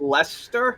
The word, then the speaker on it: Leicester: along needless to say i believe it's pronounced lester i think leicester city